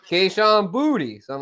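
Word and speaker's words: Boutte: yeah they asked him they said is it pronounced bout he said no it's pronounced booty mhm yeah I know that cuz he do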